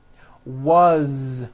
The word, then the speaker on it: was: Z ending his mom is married and you pronounce it with a voice to Z as the phone rang was which is a very common word it was